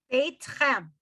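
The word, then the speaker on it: צאתכם: 2 syllables, right? Seit, chem, not 3, not seitchem. Seitchem would be 2 syllables, but when we sing it's seitchem leshalom, so it almost sounds like 3. Seitchem, right? So it's the tsa, it's the first 3 letters are 1 syllable, and the last 2 are the other syllable.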